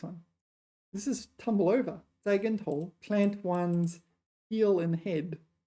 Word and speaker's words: 栽跟头: I should pronounce it the neutral tone. 栽跟头. 栽跟头.